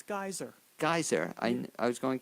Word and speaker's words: Gaiser: guest of today's show and she is Robin gazer who's a musician author among other things and I'm pronouncing it Robin right actually it's geyser geyser I I was going to ask you